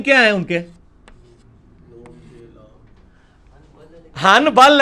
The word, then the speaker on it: حنبل: حنبل ہے لیکن پڑھا میم جاتا ہے, کیوں؟ با آ گیا نون ساکن کے بعد تو نون مکمل ختم ہو جاتی ہے.